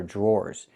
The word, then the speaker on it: drawer: The DR makes a J sound like in juice and jump. Plus the R, J, jr, jr. Then we have the OR sound like more and door. Drawer. Drawer.